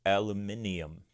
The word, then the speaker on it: aluminium: will be ready to solder, or as the British say, solder. They also say aluminium.